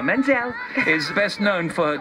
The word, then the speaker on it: Menzel: You said it nice, Idina, and I like to say Menzel. It sounds like oil.